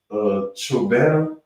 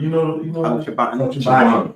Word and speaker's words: Chobani: Also in the news, I saw I don't know if it's pronounced Chobana, the yogurt. Chobani. Yeah.